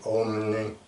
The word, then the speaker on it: Om: The M is pronounced with an N, Om, like that.